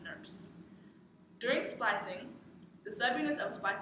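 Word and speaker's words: snRNP: Spliceosomes are composed of 5 subunits known as SNRMPs, pronounced SNRPs.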